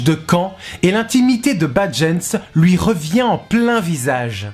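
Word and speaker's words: Badjens: Badgens prononcé Bad-gens, qui signifie mot à mot mauvais genre. Badgens comme 2 syllabes que la bouche aspire d'un coup.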